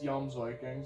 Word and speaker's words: Jomsviking: Jomsviking, I think. Jomsviking. Because I know in Norse, J's or Y's. J's are like Y sounding. Yeah, it's Jomsviking.